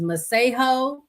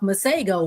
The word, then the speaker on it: Masego: So apparently the correct way to say his name is Masego. But I guess he don't know his name either because he's been calling himself Masego.